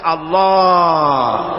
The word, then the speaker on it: আল্লাহ: পাকের নাম উচ্চারণ হচ্ছে আল্লাহ আল্লাহ মুখটা একটু গোল হয়ে যাবে বলেন আল্লাহ আল্লাহ সুবহানাল্লাহ